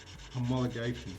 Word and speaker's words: homologation: okay how do i pronounce that i can't pronounce it yeah homologation oh okay there you go i learned something